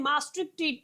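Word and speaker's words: Maastricht: 1993 के अंदर फॉर्म्ड किया गया था थ्रू द मैटार्सिक ट्रीटी। ठीक है, नहीं मास्ट्रिक्ट ट्रीटी भी बोलते हैं इसको, आप लोग जैसे भी प्रोनाउंस करना चाहे।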